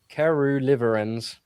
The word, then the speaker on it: caerulivirens: Uh caerulivirens.